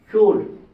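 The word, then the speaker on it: should: এলাচ উচ্চারণ হবে না সুড ডি এর পূর্বে এলাচ উচ্চারণ হবে না উড ডি এর পূর্বে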